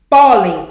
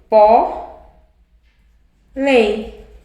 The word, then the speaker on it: pólen: Pólen, a mesma coisa. Pó, lem. Terminou com N? Terminou. A sílaba mais forte é a penúltima, ó.